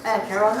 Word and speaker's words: Acheron: Acheron, thank you.